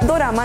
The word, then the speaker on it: dorama: lo creas la palabra dorama no és coreana sino japonesa la palabra dorama viene la pronunciación del estilo japonés de la palabra inglesa drama el término correcto para